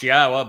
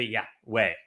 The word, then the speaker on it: Yahowah: And they changed Yahweh's name, which is clearly pronounced Yahowah based upon Torah, based upon Haya, to Yahweh, all to accommodate their desire to change God into their image, into her image.